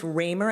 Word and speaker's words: Ramer: expect that we will hear evidence that Chief Ramer and I am I pronouncing that right I am thank you Chief Ramer of the Toronto Police Service um that he's